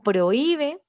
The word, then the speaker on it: prohíbe: tiene tilde por excepción con prohíbe. La H es mude muda e invisible, es decir, tiene tilde porque tengo el acento en la cerrada ahí y está acompañada de una u que es una vocal abierta y le pongo la tilde.